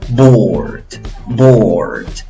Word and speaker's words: bored: Bored. ¿Ves que no pronuncias la E final?